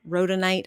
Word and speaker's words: rhodonite: The rhodonite, I believe is how you pronounce that.